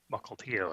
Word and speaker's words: Mukilteo: One of them being Mukilteo, if I remember that pronunciation correctly.